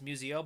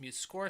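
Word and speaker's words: MuseScore: Muse score so I everybody kept saying Muse so I imagine it's I thought it was Museo but it's m score sounds this was my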